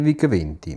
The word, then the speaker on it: VIC: Piccola curiosità, in Germania la scritta VIC viene sostituita dalle due lettere V e C in quanto la pronuncia di VIC in lingua tedesca rappresentava una parola ritenuta troppo volgare.